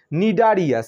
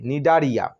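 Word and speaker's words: Cnidaria: 2 নম্বরে নামের শুরুতে সি আছে, কিন্তু সি এর উচ্চারণ হবে না। নিডারিয়া, CNI, RIA, নিডারিয়া।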